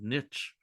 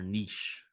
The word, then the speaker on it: niche: How do you say that word? Niche or niche? I usually say niche. Number one. All right. Niche sounds pretentious to me.